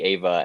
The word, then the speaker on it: Eva: No, the shorthand is Ava, but it's just Neon Genesis Evangelion.